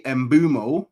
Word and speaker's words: Mbeumo: By the way, Embumo. Yeah, that's his name. That's how you say it.